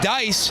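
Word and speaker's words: Deiss: Brody Dice, d e i s s pronounced Dice, had a goal earlier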